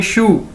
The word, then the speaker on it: shu: ये Chinese word है, इसको कैसे प्रोनाउंस करेंगे, जिस तरह हम बोलते हैं जूते को इंग्लिश में शू, एक जूते को कैसे बोलते हैं, शू, SHU, शू।